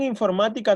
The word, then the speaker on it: informática: penúltima posición pero en informática no pasa eso en informática tenemos a ver contamos acá es la última y es la penúltima más que es donde está la sílaba tónica es la antepenúltima posición si es la antepenúltima